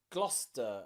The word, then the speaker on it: Gloucester: that's it okay recent there are places like leicester and gloucester and worcester okay and nearly all of these you have a c in them that is completely silent okay lester you might know the